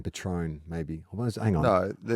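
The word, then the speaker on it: Patrón: oh no oh God the first syllable is Pat as in Patron Patron Patron oh [ __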